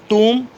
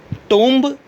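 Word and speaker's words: tomb: Lamb, डम, थम, टूम। कभी भी ऐसे मत बोलिएगा लैम्ब, डम्ब, थम्ब, टोम्ब, ऐसे नहीं होता।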